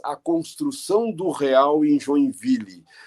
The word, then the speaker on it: Joinville: Eu parto do princípio de que o nome da cidade... Eu começo a trabalhar a partir do nome da cidade, Joinville, que na pronúncia francesa é mais ou menos Joinville, que quer dizer duas vilas, ou vilas juntas.